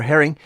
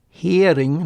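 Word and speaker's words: Hering: the German word for Herring is spelled with one R only and it's pronounced hearing not Herring so this Bismarck heading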